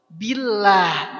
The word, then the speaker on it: billah: Auzu billah. Billah biasa aja tipis.